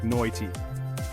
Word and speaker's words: night: The I in night sounds more like noity, and mate gets stretched into my tea.